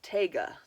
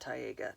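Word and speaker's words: Taiga: get back to my Tiger Tiger I think that's how you pronounce it it is spelled how is it spelled it is spelled ta i GA teh taga not Tyga Tyga sweater anyway um this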